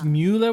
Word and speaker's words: Müller-Thurgau: mua mu to it does look like M Mueller thurgo but it's mua with the little oow over the U and th is TGA